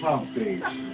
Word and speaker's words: Humpty: My name is Humpty, pronounced with a umpty.